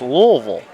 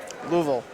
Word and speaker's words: Louisville: And if you're from there, it's pronounced Louisville. Louisville. I'm I'm getting that. Just like uh Nevada is actually Nevada.